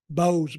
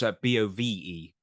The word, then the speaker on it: Bove: How do you pronounce it? Bose, Boze, It's Bove.